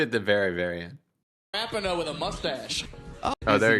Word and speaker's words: Rapinoe: That's Megan Rapinoe with a mustache. It's pronounced Rapino.